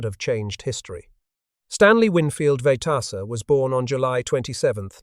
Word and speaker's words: Vejtasa: The family name was Czech, pronounced Vejtasa, but nobody in rural Montana could say it right, so they just called the boy Swede.